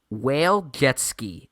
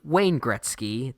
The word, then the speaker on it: Wayne Gretzky: heard all year yeah now obviously will jetsky is a mispronunciation of the great Wayne Gretzky the Canadian hockey player